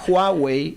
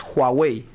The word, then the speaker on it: Huawei: Bueno, es cierto, pero tenemos a Huawei. En chino se pronuncia la H, se pronuncia. Entonces, Huawei, no es Huawei, como deci, es Huawei.